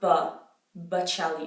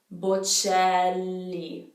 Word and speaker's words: Bocelli: So most people know that that C becomes a ch sound in Italian. So it's not Bocelli, it's Bocelli. Bocelli. There is a double L in this name. So the double consonant needs to be pronounced.